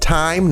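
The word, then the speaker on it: thyme: from the nightclub I was just informed it's pronounced time not th I learned it th so I'm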